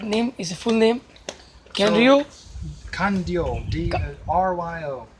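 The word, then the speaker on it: Kanryō: कैनरियो Kandio, D-R-Y-O, Kandio, कांडियो Higashi Onna.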